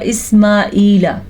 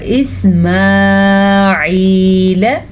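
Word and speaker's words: إسماعيل: آبائک ایک ابراہیم و اسماعیل و اسحاق ابراہیم و اسماعیل. اکثر لوگ پڑھتے ہیں و اسماعیل ایسے نہیں پڑھنا. ہم نے اس کو پڑھنا ہے و اسماعیل لام کو کھینچ کے نہیں پڑھنا.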